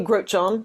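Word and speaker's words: Grotjohn: So my name is Grochon.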